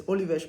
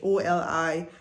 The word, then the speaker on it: Olivais: the last time, I wanted to live in Olivais. I don't know if that's what they call it, but it's Olivais, Olivais.